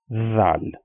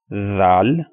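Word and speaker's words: ظ: the difference between the two is that this one, za, we pronounce this sound with more stress, or you can say that we pronounce it with kind of a whistle sound, like that sound, za.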